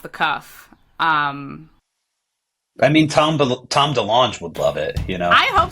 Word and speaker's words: DeLonge: to Blink-182 or Tom DeLonge, I think you should send him Friends with Aliens. Is it DeLonge or DeLonge? DeLonge? I think I've heard DeLonge. I think it's DeLonge, yeah. With the hard G.